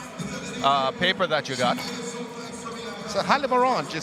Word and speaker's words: Haliborange: Haliborange. You can't pronounce it Halib Orange. You could do that, but that is not what it is pronounced.